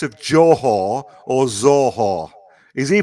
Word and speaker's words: Johor: it's pronounced it's pronounced yeah it's pronounced jawhor but he says zorho it's